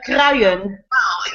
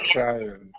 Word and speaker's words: Kruijen: It's pronounced Kruijen. Kruijen.